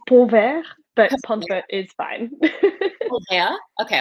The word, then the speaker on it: Pontvert: your last name if you understand French about it it's povert but is fine yeah